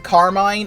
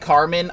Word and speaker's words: Carmine: was named car uh I keep saying Carmine apparently it is pronounced Carmen I don't care uh